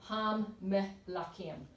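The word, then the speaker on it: המלכים: Phonetically, ham melakim. The m's are the mem is said twice.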